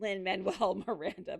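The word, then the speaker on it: Lin-Manuel Miranda: Wow, I really butchered her. It's okay. It's Lyn Manuel Miranda.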